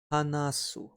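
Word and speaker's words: 話す: talk all day long to talk or to speak is pronounced as Anatsui on the right side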